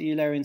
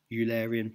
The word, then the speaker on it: Eulerian: I try and pronounce it the British way, Eulerian rather than Eulerian, which is a more German way of saying the same thing.